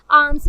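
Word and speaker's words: alms: to fortunes आर्म्स, hair आर्म्स में एल जो है वो साइलेंट है, और मैं किस्मत की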